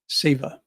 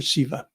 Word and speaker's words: Seva: that place of selflessness there's a Sanskrit word Seva or Siva depending on who's pronouncing it and it describes these